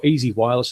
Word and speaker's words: EZI Wireless: You've got my Twitter handle down there, Ben Aylett, but you can also search for Ben Aylett or Easy Wireless, and that's spelled EZI Wireless.